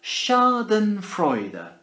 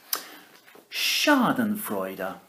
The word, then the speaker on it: schadenfreude: to borrow this word from the German it's pronounced schadenfreude er why don't you try saying it schadenfreude er my turn your turn schadenfreude er schadenfreude are